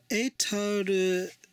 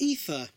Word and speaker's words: Aether: And then we have an Aetor Seeker, which is better pronounced as Aether.